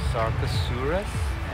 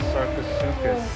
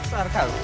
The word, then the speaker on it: Sarcosuchus: How do you say it? Sarcosaurus? Oh no, Sarcosuchus. No. Yeah. Yeah, Sarcosuchus. Gus or chus? Chus? Chus? Sarcosuchus.